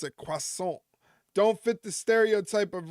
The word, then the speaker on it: croissant: for pronouncing Quant croissant we're not supposed to pronounce it croissant we're supposed to pronounce it Quant don't fit The Stereotype of wrestling fans being